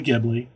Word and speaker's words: Ghibli: art style is clearly gibli the jibli whatever um six the Japanese actually pronounce it jibli and I hear it